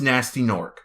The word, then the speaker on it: Gnasty Gnorc: And yes, I am the one who pronounces him Gnasty Gnorc. Because when I was a little kid and I didn't know any better, I pronounced it exactly as I saw it, Gnasty Gnorc. Even though I know it's Nasty Gnorc.